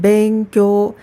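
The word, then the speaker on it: 勉強: 공부 는 " 벤쿄 " 라고 발음 하니 , 발음 할 때 주의 하세요 .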